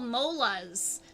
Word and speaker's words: molas: have what we call molas that's spelled m-o-l-a-s kind of like molars but without the r and they do the